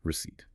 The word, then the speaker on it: receipt: This is your receipt. Let us spell it carefully because it has a silent letter. Receipт. Notice the letter P. You do not say the P. It is silent.